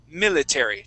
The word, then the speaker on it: military: would said military okay using the Spanish I let's try a short I sound we're going to say mil mil military try that please an